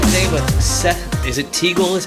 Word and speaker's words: Teagle: i'm joined today with seth is it teagle is how you pronounce that eagle that's right eagle all right